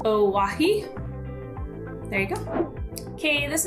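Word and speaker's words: Owyhee: how those two are the same but it's pronounced owahi there you go okay this next one's not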